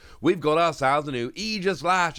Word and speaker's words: Aegislash: a new eega slash a Pokemon which is very commonly mispronounced one of the ones which I don't mispronounce although I know it sounds a little bit weird but it is either slash I checked yay so before we